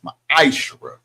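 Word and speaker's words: מעשר: Tithes, which is a commandment, you can find this in Numbers 18:21, Malachi 3:8-10, means tenth in the Hebrew and is pronounced ma'aserah.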